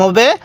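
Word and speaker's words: حاء: বাতাস বের করবেন তাহলে এই হা টা সহি উচ্চারণ হবে তাহলে হা এরপরে এই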